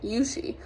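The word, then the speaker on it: Yuxi: a while and so her name is spelt y-u-x-i and she's chinese and her name is pronounced yushi and so we decided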